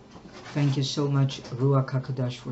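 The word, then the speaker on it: ruach hakodesh: the most high Yahweh that through that the ruaka kadash could discipline us through our spirit that's how I needed to say thank you so much Rua kadash for saying it correctly Hallelujah many disciplinary acts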